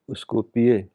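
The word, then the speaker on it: Skopje: अगला सफर हमारा इसको स्को पिए स्कोप जे को वाई पढ़ते हैं तो हम लोग जरा मिस प्रोनाउंस करते हैं वैसे स्कोपी है ये तो यह मेसेडोनिया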